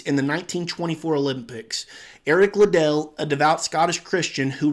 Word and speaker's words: Liddell: eric little or liddell i'm in the habit of saying liddell but i think it's officially pronounced little so when a lot